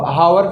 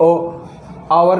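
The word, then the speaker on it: hour: यानी घंटा ठीक है अब इसको कहीं हावर पढ़ते हैं हावर नहीं होता है ये ओ और होता है और यानी घंटा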